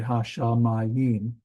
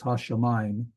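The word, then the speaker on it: השמים: we have hasham uh notice I don't say has I don't say Hashim it's hasham this is a dip thong where these the this Pak and yod and H and the the men at the end those become one sound hamine um yeah here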